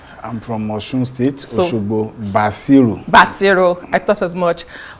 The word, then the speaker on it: Basiru: I've heard different pronunciations. I'm from Osun State, Osogbo, Basiru.